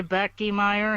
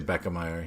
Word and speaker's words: Beckmeyer: You got closer Beckmeyer? than you got closer than I He did. doesn't say Becky Meyer, he says Beckmeyer. I say Beckemeyer, yeah, but it's okay because I butchered his name as well.